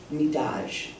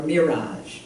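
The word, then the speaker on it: Mi'raj: It's Midaj, or Miraj, depending on how you pronounce it. It's R, but in some Arabic tongues the R comes out more like a D.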